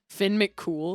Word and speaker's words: Finn McCool: Finn McCool. What a Finn, heartbreaker. it's Finn McCool, and it's spelled like Coomhill, but like I've always heard it pronounced cool.